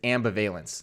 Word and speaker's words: ambivalence: what is M or technically it's amb veillance is the way you should be um uh pronouncing this it means that uh